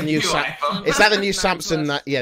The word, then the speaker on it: Samsung: Samsung. Not like Samson, like George Samson.